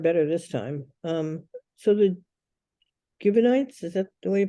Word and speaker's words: Gibeonites: So the Gibeonites, is that the way you pronounce it? Gibeonites, yes.